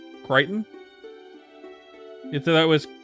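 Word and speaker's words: Crichton: Do you not know that that's how his name is pronounced? Kryton. You thought that was Christian or something?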